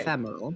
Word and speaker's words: ephemeral: I keep forgetting, like, the intonation on it. The stress is on the second syllable. Okay. Ephemeral.